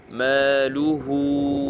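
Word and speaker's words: ماله: Ici, vous voyez un petit waw, je vais rapprocher, un petit waw devant ha. Si on poursuit, il faut prolonger, faire une prolongation normale, mad tabi'i, 2 temps. Maluhu wa ma. Il ne faut pas faire trop long ni trop court.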